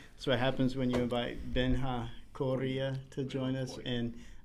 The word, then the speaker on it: Benjamin: pronunciation, like Benjamin is not Benjamin, it's Benjamin.